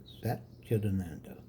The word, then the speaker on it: Sat Chit Ananda: A-N-A-N-A, ananda, A-N-A-N-D-A, ananda, sat, chit, ananda. It's hyphenated. 3 syllables, 2 hyphens between the first syllable and at the end of the second before the third.